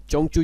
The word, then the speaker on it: Zhengzhou: करेंगे चें चू यूनिवर्सिटी चंग चू यूनिवर्सिटी उसे कहते हैं तो वैसे हम जेंज यूनिवर्सिटी इससे कहते हैं तो चाइनीज में उसे इसे जो है प्रोनाउंस एट करते हैं चंग चू यूनिवर्सिटी ठीक है चंग चू